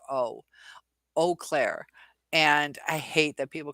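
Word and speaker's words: Eau Claire: but ah e a u it should be pronounced o Clair and I hate that people call it Au Claire but that's your michiganders for you it's like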